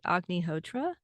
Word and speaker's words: Agnihotra: well first of all did I say it right AG hotra yes that's correct it's said in different ways it's the words the two words are sometimes put together in one long word a hotra and sometimes